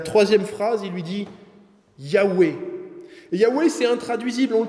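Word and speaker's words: Yahvé: est et qui sera et la prononciation de ce mot parce que bon c'est une petite chose mais on la connaît cette prononciation les Hébreux vers à l'époque de Jésus ne la faisaient plus par crainte d'utiliser le nom de Dieu en vain mais on sait que c'était Yahou Yahoué parce que simplement nous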